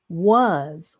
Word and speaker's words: was: So, this uh next word again is wa uh the a has the uh sound in this word, and the s has the s sound. Wa w has the w sound. Uh s wa uh s was was w a s was.